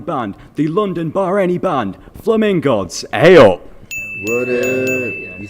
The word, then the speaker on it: Flamingods: Big up Fly FM, Alexander Greensmith here, joined by the band, the London Bahraini band, Flamingods. Hey up! What up? You said it right as well, Flamingods.